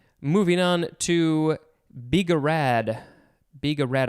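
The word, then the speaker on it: bigarade: on to biga rad biga rad i think that's how it's pronounced b-i-g-a-r-a it is a noun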